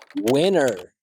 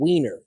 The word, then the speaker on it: winner: so many other words most languages don't have this I as in sit vowel so when students replace it with the e as in she vowel it sounds like you're saying weener which could be a hot dog or a cute way to say penis e assess so a